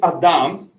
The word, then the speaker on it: Adam: So once he's created Adam, or Adam, as we pronounce it in English, he places Adam in this pristine garden, the Garden of Eden.